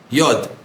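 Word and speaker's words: יוד: For example, how do you say the letter yud? Yod. Yod is how you say yud, really. It's not yud, it's yod.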